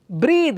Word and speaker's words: breath: black is an adjective black now you see pronunciation breathe breathe is a verb verb breath how do you